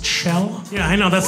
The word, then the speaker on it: Kjell: My name is Chell, spelled K-J-E-L-L, pronounced Chell.